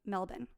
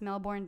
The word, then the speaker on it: Melbourne: They chat about meeting the next evening to get together at the Ocean Blue Bar in Melbourne. I'm going to call it Melbourne because I know it's Melbourne, but No, well, Australians they get say upset